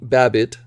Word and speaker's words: Babbitt: was directed by jamie babbitt rhymes with rabbit written by sam bain